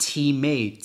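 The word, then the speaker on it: τιμή: spelled time can you believe that but it's pronounced teammate t-e-e-m-a-y and it's a valuing a price so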